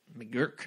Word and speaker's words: McGuirk: Sally McGuirk I think I said her her name wrong it's mcg you I RK McGurk New York I don't know she got into